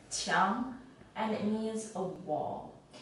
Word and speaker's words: 墙: This character is pronounced as 墙, 墙, and it means a wall.